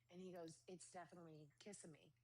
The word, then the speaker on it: Kissimmee: Nobody really knows how to pronounce it, and it's fine. It's fine. Yep. I say Kissimmee. That's just what I Me say. too. I say Kissimmee too because it just sounds right.